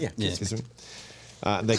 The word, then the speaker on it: Kissimmee: Is that how you pronounce it? Yeah. Kissimmee.